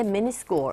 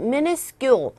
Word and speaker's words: minuscule: 발음하실 때 minuscule. 이렇게 하시면 돼요. 별거 아닌 minuscule. 됐습니까? minuscule. 이 발음 자체가 scule 하시면 돼요. school이 아니라 scule. minuscule.